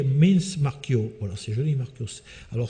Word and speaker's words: Marchio: Voilà, c'est joli, Marchio. Alors, si on est au 7e siècle, au 8e siècle, ça se prononçait vraiment Marz. Marz. Voilà, ils écrivent CIO, ils prononcent Marz.